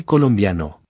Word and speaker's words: colombiano: To say I am Colombian, we say Soy colombiano. if male and Soy colombiana. if female. Again, there are no accents, so the stress naturally falls on the second to last syllable.